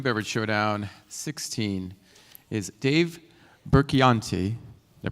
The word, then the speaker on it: Burchianti: And our final presenter of New Beverage Showdown 16 is Dave Burchianti. Did I pronounce it correctly? Burchianti, I got it, of Hubble. Come on. Thanks, Ray. Uh-oh. Hi, I'm Dave Burchianti, founder and CEO of Hubble out of Manhattan Beach, California.